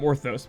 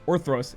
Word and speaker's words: Orthros: or throws up there I called orthos or throws is the better way to say it like I've been messed